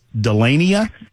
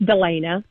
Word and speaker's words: Delana: Let's see, from James to, I believe this is Delania. Am I pronouncing that correctly, ma'am? Delania? Hi, it's Delana.